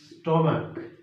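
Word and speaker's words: stomach: monarch আবার যদি বলি স্টমাক স্টমাক স্টমাকের এখানে এখানে দেখেন শুধু সিএইচ আছে কিন্তু উচ্চারণটা হচ্ছে ক এর মত তো এখানে কি হবে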